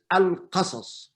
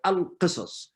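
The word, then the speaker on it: القصص: But in the proper pronunciation is al-qasas, walaysat al-qisas.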